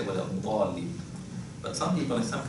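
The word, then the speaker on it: الضالين: Al-Dhalin, the word Dal, it is pronounced without having the tip of the tongue going out. Right? So we say, well, Al-Dhalin. But some people in some countries, they would say, well, Al-Dhalin, so they would bring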